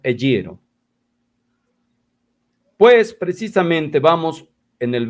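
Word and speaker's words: ἐγείρω: Y ahí está el verbo ser resucitado, eyiro, escrito eyeiro, pronunciado eyiro.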